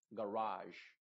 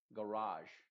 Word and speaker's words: garage: como una I modificada excepto estas dos palabras de acá por ejemplo acá va a sonar como garage garage y sabotage sabotage estas dos son una excepción a la regla que te acabo de